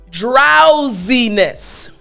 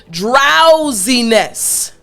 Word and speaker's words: drowsiness: so here we have z so after me drowsiness excellent last time after me drowsiness good job so now you know how to pronounce this word properly let me give you